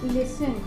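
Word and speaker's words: listen: For example लिसन, often, often जो टी है वो साइलेंट हो गया, लिसन जो टी है वो यहाँ पे भी साइलेंट हो गया, ओफन।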